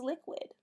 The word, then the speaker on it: liquid: I can see that there are 3 vowels. The U goes with the Q, but the 2 I's are short. I know that this is a closed syllable word. That helps me to read it. The word is liquid, which is on page 49.